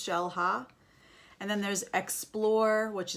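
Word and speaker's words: Xel-Há: there's also like shell ha X but it's pronounced shell ha and then there's Explorer which is cave diving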